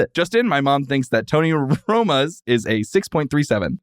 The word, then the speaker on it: Tony Roma's: Uh Tony Ramos. Tony Roma's. Tony say it wrong every time. Tony Romos. Yes. Not Romo. Not the football player.